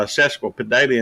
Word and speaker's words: sesquipedalian: easy way of saying it and that's uh cesical pedalia and spelled s-e-s-q-u-i-p-e-d-a-l-i-a-n sesquipedalian sometimes in five dollar words are very